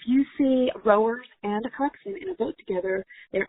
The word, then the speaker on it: coxswain: Coxswain is also pronounced coxswain.